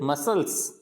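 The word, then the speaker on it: muscles: फिर मसल्स, मसल्स, मसल्स बोल के देखो, प्रोनाउंस करो, मसल्स, मसल्स, तो यहाँ पे सी का प्रोनाउन नहीं होता है, तो मसल्स।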